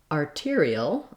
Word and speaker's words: arterial: to it artery then when we change to arterial arterial we have actually a real t because this syllable tear is stressed and so in that